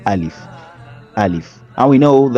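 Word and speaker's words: ألف: We don't say alif, we don't elongate it, we say alif.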